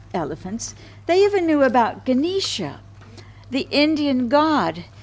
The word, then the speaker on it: Ganesha: They even knew about Ganesha, the Indian god said to have the head of an elephant. Isn't that Ganesh? Oh, maybe it's pronounced Ganesh. It's different. I've heard it pronounced different ways.